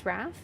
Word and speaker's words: Raph: My name is Raph. It's pronounced like laugh but with an R instead of a L.